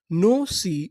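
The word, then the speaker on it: gnosis: अगर आपको एन से पहले जी शुरुआत में लिखा मिले तो हम लोग जी का उच्चारण नहीं करते, हम लोग एन से उच्चारण करना चालू करते हैं।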